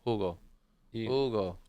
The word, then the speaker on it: Hugo: Ugo. Ugo in Spanish, Hugo in English. Okay. Yeah. The H is silent, guys.